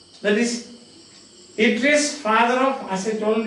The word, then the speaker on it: Atreus: That is written Atreus. But it is Atreus. Pronounced Atreus.